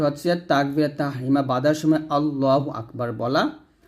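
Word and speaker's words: الله أكبر: হু আল্লাহু হামজা কাফ জবর আক এখানে হামজা উচ্চারণ হবে আক বা জবর বা র পেশ রু আল্লাহু আকবারু যদি আমি এখন ওয়াক্কফ ধরি তাহলে র টা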